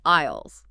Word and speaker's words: aisle: It starts with an A, has an I, an S, an L, and an E, but we do not pronounce the A or the S.